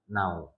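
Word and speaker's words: النوم: As-sholatu khairum minan naum. Naum panjang dikit, jangan as-sholatu khairum minan naum. Panjang dikit karena mat apa Bu?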